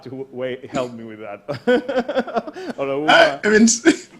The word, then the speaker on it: Olaoluwa: Olaoluwa. Olaoluwa, or you can say roast beef or Olaoluwa. I did it right.